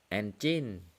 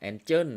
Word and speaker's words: Angel: การ ใช้ เครื่อง มือ engin อี้ ของ เรา นะ ครับ ang นะ ครับ ang ไม่ ใช่ engin โทษ ที นะ ครับ ออก เสียง ผิด Angel อินดี้ ของ เรา